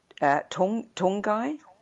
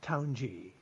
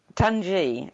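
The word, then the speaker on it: Taunggyi: your first visit to meet her family in Tongai? Is it Tongai? It's Taunji. Tanji. There are different pronunciations on the internet, so I had it completely wrong.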